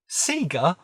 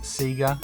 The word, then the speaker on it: Sega: the console turn on the power and figure Sega why would it be pronounced Sega it even says Sega when you